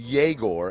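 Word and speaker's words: Egor: Google told me it's pronounced yagore and not eigore even though it's spelled e gore.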